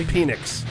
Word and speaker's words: Penix: It's pronounced Penix.